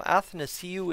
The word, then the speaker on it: Athanasiou: So Athanasiou is how I say it. That's how I was told to say it. So that's how it's said.